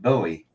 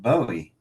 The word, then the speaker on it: Bowie: you know especially with English difference like David Bowie it's not Bowie they pronounce it bow David bow because David BWI